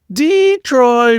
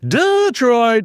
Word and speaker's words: Detroit: Let's talk about Detroit, or should I say Dee-troit, or maybe Detroit, because apparently how you say it determines whether